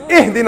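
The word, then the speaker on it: اهدنا: You better not say, Ahdina as-sirat al-mustaqim, otherwise I'm going to pound you. It's Ihdina as-sirat al-mustaqim. Read it right.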